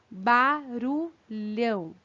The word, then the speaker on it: barulhão: Então, entre as palavras mãe, barulhão e ladrão, vocês percebem quando vocês pronunciam essas palavras que elas também têm um som nasal?